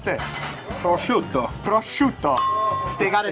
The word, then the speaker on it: prosciutto: Prosciutto. Prosciutto. They gotta say it like that. It's not prosciutto, it's prosciutto.